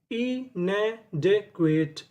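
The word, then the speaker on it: inadequate: आपको एक रूल याद रखना है, अगर आपको इंग्लिश की किसी भी मीनिंग के आखिरी में ई लिखा मिले तो हमें ई का उच्चारण नहीं करना होता, हमें उससे पहले तक की मीनिंग पढ़नी होती है।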